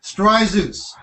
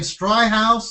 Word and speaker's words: Stryzus: So just think of Zeus when you think of Vic. Take out the H. The H is silent. So it's very easy. Say it with me. Stryzus. Stryzus. Yeah, easy to. Cause at one time, I heard people saying Stry House and Stryzos, and it's Stryzus.